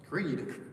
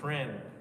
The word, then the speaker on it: Creed: Creed. Not Kren.